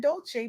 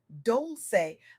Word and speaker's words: Dolce: I'm Dolce, pronounced dol-say, like sweet softness whispered in French, and I'm your guide